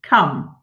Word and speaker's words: come: Come. Okay, it's rhymes with one, doesn't it?